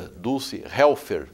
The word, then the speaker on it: Dulce Helfer: programa Mercado e Ação recebe hoje essa bela figura, Dulce Helfer. Pronunciei correto?